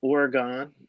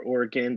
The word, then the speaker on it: Oregon: West Virginia I like Oregon or Oregon depending where you're from and how you like to pronounce it and you got